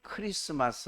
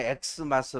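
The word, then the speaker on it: Xmas: 감사 에베 4 매일 2x 맛으로 읽으시면 안되고 메리 크리스마스 라고 읽으셔야 됩니다 안 맺는 사람들은 그냥 x 마스 라 그렇죠 수학의 액수도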